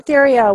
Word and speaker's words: Theriot: his last name Syrio Cajun French and it's pronounced in my strain of the family here we go so everyone this is Brian Terrio what there was a Guana marketing iguana Media